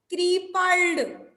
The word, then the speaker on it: crippled: अब प्रोनाउंसिएशन देखिए, जब हम प्रोनाउंसिएशन करते हैं तो क्रिपल्ड बोलते हैं, वन टाइम ये पी को हम बोलते हैं। फिर देखिए yes ma'am. But इट इज not pronounced as क्रिपल्ड। हम अलग अलग इसे प्रोनाउंस नहीं करते हैं, साथ में ही करते हैं, वन टाइम में क्रिपल्ड। इट is pronounced with a single P sound, इसमें सिंगल पी साउंड निकल रहा है।